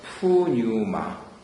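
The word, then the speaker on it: πνεῦμα: 생기를 불어넣으시니 하나님께서 생명이 된지라 했을 때 그것이고, 그 다음에 신약적으로는 푸뉴마. 그래서 그것도 역시 여기에 이제 해서 그리스식으로 이렇게 발음해야 되는데, 그것 말고 또 비슷한 것이 이제 푸시케가 있습니다.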